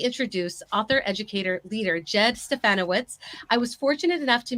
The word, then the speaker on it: Stefanowicz: Stefanowicz.